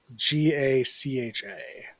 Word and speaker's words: gacha: it's GACHA. It has nothing to do with the term gotcha. It's from It's not, Japanese. yeah, it's not gotcha.